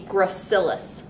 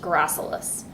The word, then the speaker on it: gracilis: that is called the gracilis muscle you may also hear that pronounced gracilis so grassless or gracilis muscle the other muscles that